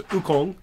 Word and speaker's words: Wukong: You probably can pronounce it better. Sun Wukong. Oh, I think it's Wukong.